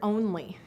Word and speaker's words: only: the word only and what's interesting about this word is you hear the own and it still refers to one however that o is saying it's long sound not at the end of the syllable in a in a closed syllable but it comes from this so this is an exception again to the spelling rules but it's not an exception when you think about it morphologically and also a o